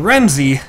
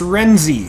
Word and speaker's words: Renzy: of that good good you said my name wrong remeny how could I mispronounce renzy it's re n Ze how else can you